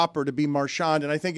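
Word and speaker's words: Marchand: He puts the emphasis on the first syllable. Yeah. Let's listen again. Brad Marshand. Marsh. Marshand. Marshand. So, everyone's saying it wrong. That can't be right. Yes. None of us. He's wrong. He's the only one saying it right.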